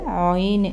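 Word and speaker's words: عين: എന്ന ശബ്ദമാണ് ഉച്ചരിക്കുന്നത് അതുകഴിഞ്ഞ് അയന് അത് അൻ എന്നേ നമുക്ക് എഴുതാൻ പറ്റും ഉച്ചരിക്കുന്ന നമ്മുടെ തൊണ്ടക്കുഴിയിലെ ശബ്ദം എടുത്താണ് ആന് ഇത് ആന് എന്ന് പറയും ആന് ഉച്ചാരണം ശബ്ദം വരുമ്പോഴേ അറിയാൻ പറ്റുുള്ളൂ അടുത്ത അടുത്തത് ഫാ നമ്മൾ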